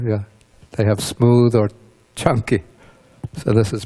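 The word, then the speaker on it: Caṅkī: on suta number 95 this is called the chunky suta it's a discourse focused around or involving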